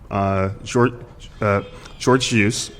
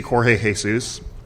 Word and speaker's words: Jorge Jesus: So you have a European trainer, Jorge Jesus. I think that's the way the Portuguese pronounce it. We would say Jorge Jesus.